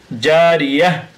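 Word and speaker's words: جارية: ইয়া জবর ইয়া, জারিয়া, তা দুই পেশতুন, জারিয়াতুন, থামলে জারিয়াহ, গোলতা হার উচ্চারণ হবে, আইনুন জারিয়া।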